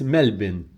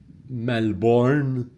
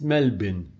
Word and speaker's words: Melbourne: So, in fact, that's wrong. It's Melbourne, not Melbourne. It's Melbourne. And we should get used to saying it, even though we might not visit Melbourne or Australia. It's good to pronounce names correctly.